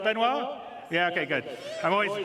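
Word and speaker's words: Benoit: CTO benoir bezer did I say it right benoir yeah okay good I'm always bad with French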